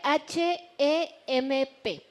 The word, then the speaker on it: hemp: Se escribe H-E-M-P, pero se pronuncia hemp, es en inglés, pero en español es cáñamo industrial.